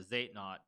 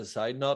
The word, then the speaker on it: Zeitnot: funny thing is, yeah, Zeitnot, it comes from German, exactly. where it's like, I think it's pronounced like actually like side note, which literally means like time need.